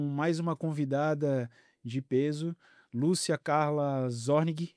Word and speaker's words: Lúcia Carla Zornig: Hoje eu estou com mais uma convidada de peso, Lúcia Carla Zornig, é assim que se pronuncia o seu Sim, nome?